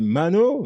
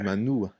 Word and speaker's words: Manu: C'est Mano? Ah, Manu? bah, On m'a tout dit, moi. Donc, comme ça, au moment que ça clair. Si on prend la prononciation malgache d'origine, c'est Manou. Manu.